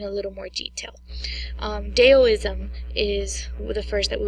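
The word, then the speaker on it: Taoism: um although it's spelled with a T it's pronounced deism the next one we'll discuss is confusion ISM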